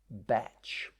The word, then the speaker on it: Bach: And that was a Welsh doctor called Edward Bach. Some pronounce his name Batch.